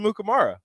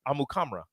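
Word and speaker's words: Amukamara: but he was like yeah that's actually not how you say it how do you say it amu kamra what yeah you know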